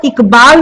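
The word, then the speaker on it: इक़बाल: ये डॉट लगने से ये ख जैसा इसका प्रोनाउंस होता है। ख भी नहीं पूरा होता है, अली जिह्वा में थोड़ा कंपन उत्पन्न करते हैं, इकबाल इकबाल, इस तरह से।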